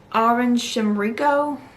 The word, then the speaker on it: Aum Shinrikyo: And then the part 2 was about I think it's Aum Shinrikyo is how you say it.